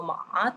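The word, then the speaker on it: 马: Lo que por sí el carácter se pronuncia en tono ma tercero, pero en conjunto, formando la palabra mamá, se pronuncia en primer tono ma.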